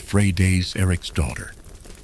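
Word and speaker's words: Freydís Eiríksdóttir: Her name was Freighus Eric's daughter, which is pronounced Frey Day's Eric's daughter.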